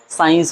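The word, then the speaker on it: science: एस के तुरंत बाद सी आ जाए, क्या आ जाए? आपका सी आ जाए, तो ऐसी कंडीशन पे सी आपका क्या होता है? साइलेंट, अर्थात इसको नहीं पढ़ते हैं। बहुत ही आसान एग्जाम्पल है, जैसे मैं बता रहा हूँ साइंस हो जाए, डिसिप्लिन हो जाए।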